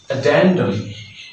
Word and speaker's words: addendum: words we'll pronounce this addendum addendum the stress will be on the second syllable of the world at